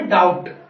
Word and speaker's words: doubt: ठीक है, तीसरा रूल क्या कहता है, अगर बी के बाद टी होता है, ठीक है, अगर कोई भी ऐसी स्पेलिंग है जिसमें बी आया, बी के जस्ट बाद टी आया, तो ठीक है, ऐसी सिचुएशन में आप बी को साइलेंट कर दीजिएगा। ठीक है, एग्जाम्पल देखिएगा फ्रेंड, DOUBT स्पेलिंग है ये, ठीक है, इसको जब हम प्रोनाउंसिएशन करके बोलेंगे तो इसे बोलेंगे हम डाउट। ठीक है, बी बिल्कुल साउंड हो जाएगा, क्या बोलेंगे, डाउट।